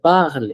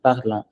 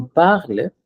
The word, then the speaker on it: parlent: So parle, mais we delete the NT and pronounce it. Ils nous parlent. It's not parlons en français. Ils nous parlent en français pour qu'on pratique.